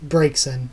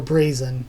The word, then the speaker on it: Braixen: the type again, and my favorite is Braixen, or Brazen, depending on how you pronounce the X in there.